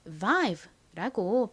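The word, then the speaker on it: vibe: 끝에 있는 떨거지로 소리가 나지 않죠. 그래서이 단어는 vive라고 발음이 되는 거죠.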